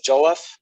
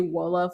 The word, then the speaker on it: jollof: So people would pronounce it differently based on accent or based on like translation. Like some regions of West Africa would say jollof, some of them would say wolof, some of them would